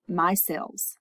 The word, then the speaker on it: micelles: to form my cells and this my cells is how you say that and this happens inside